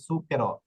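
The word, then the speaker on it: zucchero: উচ্চারণ স এর মত হবে এই যে দেখুন সুকের এটা সুকের হবে এটা জো কেরো না ইটালিয়ান ভাষায় ইটালিয়ান ররা কিন্তু এই ভুলটা করে ইটালিয়ান রটাকে জুকারো বলে এটা জুকারের নয় না এটা হবে সুকেরো কারণ কি নিয়মটা কি নিয়মটা হচ্ছে জেতা উপরে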